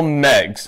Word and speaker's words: Meigs: Here's how you spell Megs, as in to referring to Megatron's nickname. You spell it M-E-I-G-S, with a silent I.